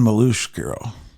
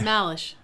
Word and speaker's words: Malush: how I say it malish malish yeah not Malo it looks like Mal it looks like Mal malish says Malo and it's I got the